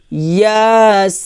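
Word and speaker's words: يس: তাহলে এখানে আমরা সিনে চার আলিফ টান দিব, ইয়াসিন ইয়াসিন, আমার সাথে বলেন ইয়াসিন, আবার ইয়াসিন, তারপর ওয়াও লাম জুবর ওয়াল, ওয়াও গে এলাম খেয়ে ধরছে ওয়াল ওয়াল।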